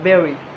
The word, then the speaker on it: buried: in celebrities pronouncing these words wrongly because it's pronounced buried not barry biry or burri and the last word is